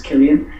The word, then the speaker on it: Killian: So it's Killian.